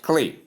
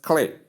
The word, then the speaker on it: clear: Then we come to American pronunciation where you have clear, just clear, clear. You can see the K sound, La sound, E sound, short E sound, and the R sound, that is the sound. The Americans like putting resound if it occurs in the pronunciations, especially with vowel sounds. So that's why it's just clear. No schwa sound, just clear. American English.